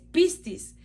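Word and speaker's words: πίστις: Su pronunciación en griego es pistis, que es persuasión, es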